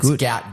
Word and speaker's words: Gout: Shout out to good gout. Gout. Gout. Gout. Yeah, that's how it's pronounced.